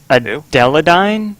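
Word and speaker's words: Adeleine: Adeladine? The girl from Kirby 64. XQCX. Oh, Madeline or whatever. It's not Madeline. It cuts out the M.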